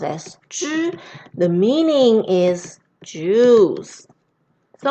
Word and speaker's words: 汁: related to liquid, water, and this whole character pronounced as 汁.